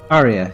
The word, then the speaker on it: Arya: out that's Arya later is that how you pronounce it Arya Aria Arya Arya yes okay and then we go